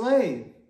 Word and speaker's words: Yeshua: Praise Yeshua! That is how you say Jesus in Hebrew.